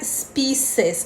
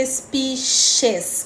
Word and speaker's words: species: o primeiro é e a gente não pronuncia spices a gente pronuncia espiches como se fosse com ch pichers espécies em inglês a